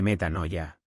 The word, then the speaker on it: metanoia: viene del griego y es la palabra meta con m de mamá como si fuera meta meta noya con n de nanc noya Cómo se escribe metanoia Qué significa literalmente cambiar